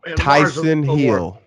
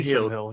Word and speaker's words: Taysom Hill: Well, that's because, Tyson Hill. Who's Tyson Taysom Hill? You mean Taysom Hill. How you say his name? Taysom Hill.